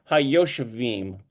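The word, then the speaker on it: הַיּוֹשְׁבִים: So you see the separate whole limb here, But these two dots, they merge together, then you just need to know that it's pronounced Hayoshavim, okay?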